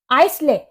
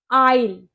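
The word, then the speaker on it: aisle: अब next word है हमारा आइसले आइसले क्या आप भी इसको आइसले बोलते हो इसकी करेक्ट प्रोनंसिएशन होती है आईल आई आईल का क्या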